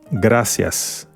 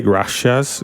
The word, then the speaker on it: gracias: told you please please gracias try not to say graas gracias I've heard that in English speaking people try trying to say gracias and they say gracias no like this is